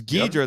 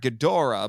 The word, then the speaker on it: Ghidorah: It was Ghidorah, the three-headed monster, not Ghidorah, because which, according to David Caledon, his commentary, and in his book for that matter, he said that's still a legitimate way to pronounce it, because he said that Japanese people speak so fast that they'll cut little vowels and things out.